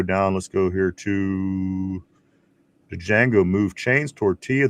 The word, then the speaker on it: Django: Let's go here to Django. Move chains. Tortilla. The D is silent. Django.